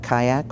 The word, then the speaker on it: CYACC: Conditions of Childhood, and we call that Kayak, or CYACC, and we know it's phonetically incorrect, but you'll give us that license, please.